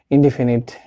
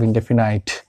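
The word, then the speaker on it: indefinite: একটা চিত্র বলতে একটা ইনডিফিনিট দিয়েছি, এটা আসলে উচ্চারণটা ইনডিফিনাইট।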